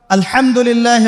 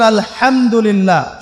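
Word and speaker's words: الحمد لله: পড়ছেন আল্লাহ আল্লাহু আকবার আলহামদুলিল্লাহি রাব্বিল আলামিন এইতো আপনি পড়ছেন আলহামদুলিল্লাহ শব্দটা কি আলহামদুলিল্লাহ এই হা এর মাখরাজ কোথায় হা এর মাখরাজ কোথায় বলেন একজন কণ্ঠনালীর মাঝখান থেকে এখান থেকে আপনি উচ্চারণ করছেন আলহামদুলিল্লাহি রাব্বিল আলামিন অর্থ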